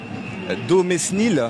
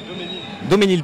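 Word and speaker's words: Daumesnil: On est sur l'avenue Domesnil, c'est bien ça? Doménil, pardon, autant pour moi, désolé pour la prononciation. Ouais, Doménil.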